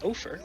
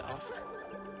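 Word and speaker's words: Opher: my vanilla playthrough and struggle not to call him Ofer, because that's how I think his name looks like it should be pronounced, but the intended pronunciation is indeed Offer.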